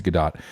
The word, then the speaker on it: Gadot: I learned it's not Gadot, it's Gadot.